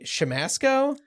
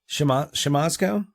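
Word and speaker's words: Siemaszko: And Dan, you're going to have to help me with the pronunciation on this last name because I know that you know it, but it's Casey Shamasco? Shamasco? Shamasco.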